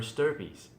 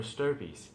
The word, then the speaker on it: stirpes: the probate estate per stirpies. And you might wonder, what? Stir fry or stirpy? No, it's spelled STIRPES.